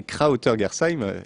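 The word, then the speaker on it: Krautergersheim: C'est Krauter-Gersheim, et donc c'est un village bien réel qui est mon village d'origine en Alsace.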